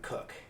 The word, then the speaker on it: Koch: I believe he pronounces his name Cook.